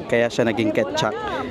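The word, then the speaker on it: Kecak: kak kak kak so it's kaya siya naging Ket chak it's it's spelled like kek kak Pero sabi ni madora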